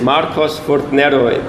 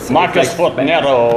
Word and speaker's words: Markus Furtner: I started that, So Markus, how do you pronounce it? Markus Furtner. Markus Furtner.